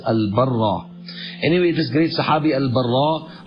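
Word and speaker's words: Al-Barā': Al-Baraa or Al-Barraa radiallahu anhu, actually both pronunciations are correct, but Ibn al-Athir rahimahullah prefers Al-Barraa.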